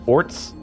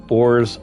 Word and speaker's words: orz: There's no set way to pronounce it. People usually pronounce it as orts, oars, or orzy.